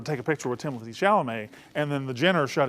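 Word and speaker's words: Chalamet: how you say it it's Timothy Timothy Timothy shalam they wanted a picture with timoy shalam who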